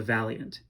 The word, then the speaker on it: valiant: the accent of the valiant right valiant sounds like two syllables so became the accents